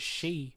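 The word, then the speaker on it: 四: of paint are needed the number four is considered unlucky because its pronunciation is she which is the term for death in Japanese hospitals and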